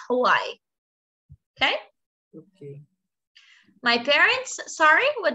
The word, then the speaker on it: Hawaii: that why okay yes because in portuguese we don't pronounce the h but in english we do so it's hawaii okay my parents sorry